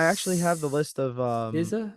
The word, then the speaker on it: SZA: I actually have the list of SZA, is that how you say it? SZA? Is Yeah. that SZA? SZA? SZA, yeah, SZA.